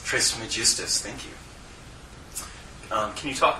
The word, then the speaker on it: Trismegistus: That's pronounced Trismegistus. Trismegistus, thank you.